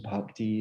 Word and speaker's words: bhakti: your baptism your dedication bhakti is spelled p h a k t i park d so there's an h in there which you should enunciate because there's an aspirated bar sound and an unaspirated bar sound and they're different